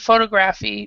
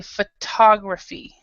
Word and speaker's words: photography: doesn't so instead of Photography we say photography so we have photo photograph and then photography so the stress is in a different area and that's the same